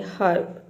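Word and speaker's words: herb: यहां पर है हब तो यहां पर आप हर्ब यानी कि आधा र बोलना है हब हब ह भी बोल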